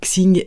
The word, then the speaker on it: Xing: taoïsme il s'agit de sing et Ming alors je vous les prononce à la française je ne parle pas très bien chinois x ING et Ming donc sing c'est